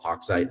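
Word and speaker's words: Hochzeit: It's called Hawkite Hall. H O C H Zi T. I finally learned how to pronounce it and spell it.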